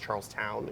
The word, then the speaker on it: Charleston: So it's spelled like Charleston. I believe it's pronounced Charlestown, even though it's Charlestown.